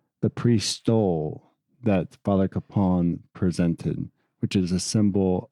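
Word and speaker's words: Kapaun: father kon's name yes apparently it is in fact pronounced Capon not Capen accounts differ as to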